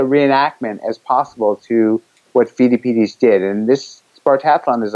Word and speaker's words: Pheidippides: What's your best pronunciation? Pheidippides, and find out about Pheidippides.